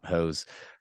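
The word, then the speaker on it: Höss: okay so commander hose it's spelled h SS but in German it's it's pronoun hose uh he begins basically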